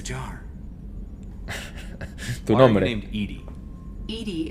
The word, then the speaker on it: EDI: the nominee named edie edie is the phonetic pronunciation of edi acronym for enhanced defense intelligence where are you my